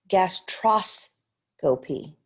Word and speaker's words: gastroscopy: 1 is gas, 2 is tros, 3 is co, and 4 is p. So let's look. Gastroscopy.